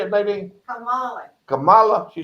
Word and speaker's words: Kamala: Speaking of Kamala, how you pronounce her name? Kamala. How you say it, Nadine? Kamala.